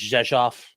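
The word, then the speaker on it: Rzeszów: Zeshoff is also uh it looks like it's spelled reoff or rejo but it's Jeshoff because it's because Polish.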